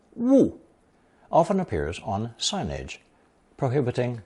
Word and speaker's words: 勿: This character, pronounced fourth tone 勿, often appears on signage, prohibiting some action or activity.